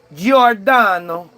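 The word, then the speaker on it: Giordano: to your G I O R D A N O Garno Gardo Jordano Jordano's colleague. You have to say with that accent or it doesn't work. Jordano Gordon.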